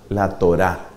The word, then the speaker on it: Torá: No utilizaban la expresión ley, sino utilizaban la expresión la Torá, la Torá. Eso se escribe T-O-R-A-H.